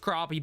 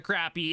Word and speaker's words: crappie: and yes i am gonna call it a crappy because i know it's gonna piss some people off i know it's pronounced crappie but i'm gonna call it a crappy however we did hit level two we unlocked